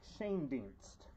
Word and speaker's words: Shane Dienst: Shane Dienst is how it's pronounced.